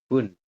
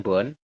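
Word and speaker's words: 분: itu jawabannya adalahatonnya adalah Bun seperti ini Bun ya bukan bonah Sams artinya adalah 38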